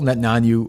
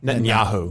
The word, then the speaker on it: Netanyahu: Net Nanu Netanyanu, am I saying that right? Netanyahu. Netanyahu. I always get that name wrong.